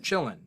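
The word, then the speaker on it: qilin: thing um and it's spelled like k or q i l i n or something like that um pronounced chillin um also i need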